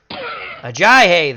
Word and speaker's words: Ajayi: Ajayi, that's how you pronounce his name, is tackled by White.